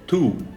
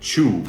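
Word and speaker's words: two: So, for you to understand, the number 2 and to go is actually pronounced like a gaúcho. So, tu, it's not chu, because chu means mastigar.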